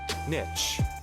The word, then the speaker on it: niche: According to the Cambridge Dictionary, it's pronounced niche in American and Canadian English, and niche in British English. So it seems that the word niche has evolved, and that while niche is correct for Americans and Canadians, the rest of the world prefer to pronounce it niche.